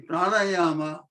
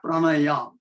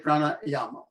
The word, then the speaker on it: pranayama: The pranayama, number one, let me reiterate, it is not pranayam, it is a pranayama, the correct pronunciation in Sanskrit. If you are pronouncing in Hindi, then pranayam is fine. But in Sanskrit, it's pranayama.